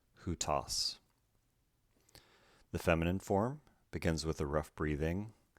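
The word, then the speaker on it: οὗτος: This begins rough breathing, the diphthong again, which is pronounced oo, who with a tau, omicron, sigma, hutas.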